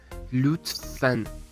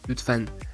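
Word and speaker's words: lütfen: بله هایر میشه نه لوطفن لطفن نمیگید لو میگه لو د تاش خیلی شبیه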